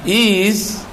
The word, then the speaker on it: is: Religion without science is bacanya, tulisannya is, tapi bacanya Z ujungnya is.